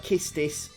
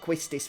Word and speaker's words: Quistis: yeah could be Mariah could be like kiss tease that sounds weird to me though I think because I pronounced it quistis for so long that qu has that kind of quirk Queen sound so quick it's this is